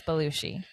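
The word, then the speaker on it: Bellucci: sorry pronouncing your last I'm pretty sure it's balushi if it's not please comment and correct us that's right I think it's Italian yes she is chasing down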